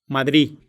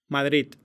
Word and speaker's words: Madrid: lobo, todo, pagar, В конце слова фонема «д» ослабевает настолько, что в живой речи может вообще не произноситься. Madrid, И еще «д» может выпадать в окончании «адо».